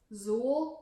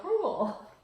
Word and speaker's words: crewel: But it's embroidery, it's handwork, and they call it crewel. Zool? No, crewel. Like from Ghostbusters? Cruel. Like Cruel. Like you were cruel to me. Yes, but you spell it like a jewel.